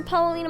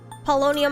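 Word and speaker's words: Paulownia: God okay all right back to Palina mall palonia mall sorry I keep mispronouncing it palonia all right and then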